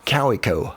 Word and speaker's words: Kaweco: And as a little gag, I have some stickers and some shirts with the correct pronunciation of this pen brand, Kawico, of course.